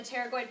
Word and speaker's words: pterygoid: Greater wings, lesser wings, and then the pterygoid process. The P is silent.